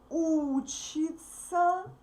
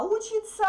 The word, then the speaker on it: учится: When we speak fast, these verbs sound the same. Он, она учится, они учатся. Can you hear that? Он учится, они учатся. Она учится, они учатся. The same pronunciation. But the third letters are different. Okay? So we write these verbs differently, but we pronounce them absolutely similar. Absolutely the same way.